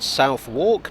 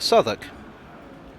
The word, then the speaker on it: Southwark: like it should be ruiz lip but it's pronounced ricelip this station is not south walk but southwark now here's one that's caught me out in